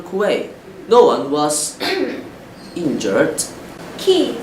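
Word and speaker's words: Kyiv: Key, not Kuwait. We have to pay attention to some words that are not pronounced the way they are spelled.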